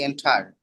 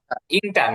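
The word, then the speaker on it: enter: ভাই এটা Then- উচ্চারণটা কি হবে, এন্টার নাকি এন্টার? আচ্ছা, এন্টার, এন্টার, ইন্টার না, আমরা যেরকম ইন্টার বলি না, ওরকম ইন্টার না, একটু এন্টার, মানে এ আর ইর মাঝামাঝি একটু।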